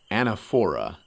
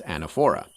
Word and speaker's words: anaphora: style you know there's something called anaphora at least I think it's pronounced that way which means that you